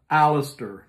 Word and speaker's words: Aleister: Crowley put this together Aleister that's that's how I pronounce his name Aleister Crowley you all know